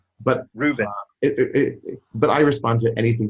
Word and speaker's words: Reuven: But I always say to especially my classes in China, I say it rhymes with move in, and which doesn't really doesn't help them in China.